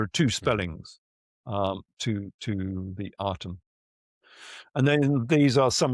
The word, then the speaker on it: Aten: Aten, which is the Aten. It's normally pronounced as the Aten, but in truth, this reglyph is more like an E sometimes, or perhaps even an I. So you could say Iten or Eton.